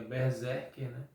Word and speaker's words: BRZRKR: será que é chamada que tem apenas consoantes aqui no seu título mas a pronúncia correta seria Berserk que aqui é uma